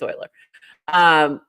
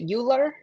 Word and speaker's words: Euler: So anyway, if you don't know what that song is, I can't even I will forever pronounce it Euler. Euler, like Ferris Bueller. Euler. And I don't care if I'm wrong.